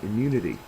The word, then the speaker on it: immunity: Next one, immunity. Immunity is a noun. It's got the second syllable accented and the picture there says, "Who needs a flu shot?"